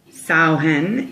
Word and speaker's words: Samhain: It's interesting because the way that it's spelled is actually S-A-M-H-A-I-N, but the way it's pronounced is Samhain, like cow.